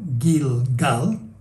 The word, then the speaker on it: Gilgal: Ahora, hay un juego de palabras en hebreo entre Gilgal, que en hebreo se pronunciaba como Gilgal, así lo ponen en la Nueva Versión Internacional y la Biblia del Peregrino, por ejemplo.